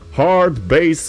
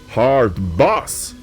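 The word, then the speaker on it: hardbass: to play soviet wave and what they call hard base music although i've been told it's pronounced hard boss in the aftermath of the party the members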